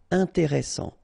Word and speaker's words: intéressant: Double S, same thing here. S, strong, and it opens the pronunciation of your E. Intéressant. Final T not pronounced.